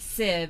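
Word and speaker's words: sieve: says the saying is leaking like a Civ pronounced Civ SIV which is a mes strainer used for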